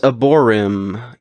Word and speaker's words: Aborym: to check this album out the band is aborm a b o r ym the album is Shifting negative um the way it's spelled out it's shifting uh do negative um